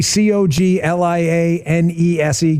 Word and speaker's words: Coglianese: Well, Coglianese, if you need it spelled out phonetically, Coglianese.